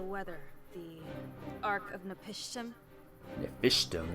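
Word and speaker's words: Napishtim: Nephishtim, that's how you pronounce it.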